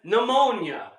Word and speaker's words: pneumonia: Uh, That's like these words that have they're spelt with letters that you don't hear. Well, that's silent. What? What the fuck? yeah, Yes. P as in pneumonia.